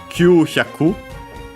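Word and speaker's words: 九百: accented on its own, Q-hyaku, 900, hyaku on its own, accented the last bora on the Q. With the Q, this is one of those that becomes accented, doesn't keep the accent of Q.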